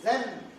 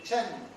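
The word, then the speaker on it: zhen: that to be known as a not a Zen that to be pronounced as a Chan c h e and Chen this is a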